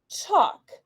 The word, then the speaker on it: chalk: Ball, stall, chalk. The aw sound in these words is spelled with AL, where the letter L is sometimes silent.